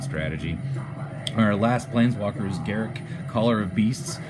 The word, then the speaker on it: Garruk: Yeah, that's right, I pronounce it Garruk, not Garuk, because I think Garruk sounds like a proper name, just like the guy from Star Trek, right?